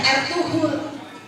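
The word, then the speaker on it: Ertuğrul: yang membawa kepala itu bernama air tugrul tulisannya dibacanya R2 Nah di sini mulai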